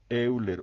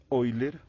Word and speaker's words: Euler: cálculo de los límites, Euler u Euler como lo pronuncian en Europa, que él aportó mucho